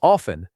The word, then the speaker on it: often: Many learners say the letter T in this word, but most native speakers do not pronounce that T at all. The correct sound is often.